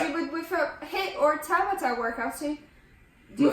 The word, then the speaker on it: Tabata: But the ones that did the Tabata increased aerobic and anaerobic. Correct. Did I say it right? Yep, 100%. I said it right.